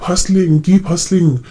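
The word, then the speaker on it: hustle: सुना होगा guys keep हसलिंग, है ना, we have to हसल in life. तो हसल का मतलब क्या होता है, यहाँ पर टी साइलेंट है।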